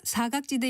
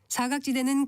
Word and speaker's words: 사각지대: 사각지대에서 사자는 죽을 사자를 쓰는데이 한자는 4와 같이 길게 발음하게 돼 있어서 사각지대가 아니라 사각지대라고 길게 발음합니다.